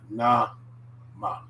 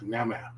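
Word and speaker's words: なま: ah always okay so we got na ma not nema not the nama nama all right and next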